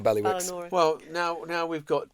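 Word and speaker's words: Bailiwick: We don't say baywick. Exactly. We don't say biwick or balwick. How are you? By wick.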